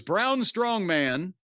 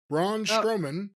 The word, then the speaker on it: Braun Strowman: Fatu and his opponent by the way was brown strongman Braun strowman hey that that's sometimes people mispronounce it that way and yes he's been